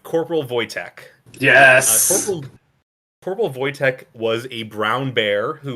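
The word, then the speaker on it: Wojtek: has not seen corpal voytech you should definitely look up photos of him because it is adorable it's a little bear a hat saluting yeah if if you go to the Wikipedia page and it's spelled w j te K it's like just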